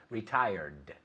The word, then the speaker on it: retired: Retired. Right? La T toca los dientes, pero la D no. Okay. Toca la parte de arriba de la boca.